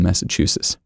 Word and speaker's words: Massachusetts: the other day that you don't pronounce the t in massachusetts or don't over pronounce it anyway you underpronounce the hell